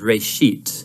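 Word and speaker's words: בראשית: it's called sorry genesis genesis comes from a hebrew word uh it's pronounced ray sheet uh and it just means beginning now there's a lot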